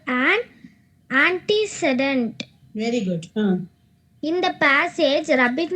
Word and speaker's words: antecedent: very much it's not an accident it is antecedent okay very good okay fine very good so